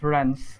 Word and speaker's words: Rance: hear me I Can Am I pronouncing your name correctly Rance uh it's rans Rance okay Rance all